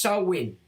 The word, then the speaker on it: Samhain: nothing different Sam some is a g word pronounced SN it's a pagan religious f originating from the